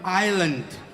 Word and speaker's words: island: In island, S is silent.